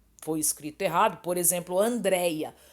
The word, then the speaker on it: Andréia: escrito errado, por exemplo, Andréia. Andréia leva acento, mas eu já vi Andréia sem acento, então nós sabemos que tem a sílaba forte, o DREI, né?